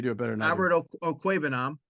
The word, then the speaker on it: Okwuegbunam: Go ahead, pronounce his last name. You do it better than Albert Okwuegbunam. Okwuegbunam, right.